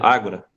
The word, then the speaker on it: ágora: Mas ao pé da letra é ágora mesmo, que se pronuncia? Ágora? é ágora, é o termo grego, é o Hum.